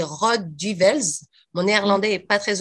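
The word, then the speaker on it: Rode Duivels: diables rouges en néerlandais ça se dit rod du welz au néerlandais est pas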